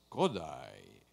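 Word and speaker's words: Kodály: accent in a word is on the first syllable it's don't say par talk it's bartok it's kodai it's a therefore you will hear a lot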